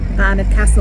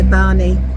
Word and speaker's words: Barnard Castle: How do you say it in Northern language? Barnard Castle. We would say Barney, Barney.